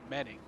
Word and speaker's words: Menning: We keep mispronouncing it, but it's Michael Menning up the inside of Menning.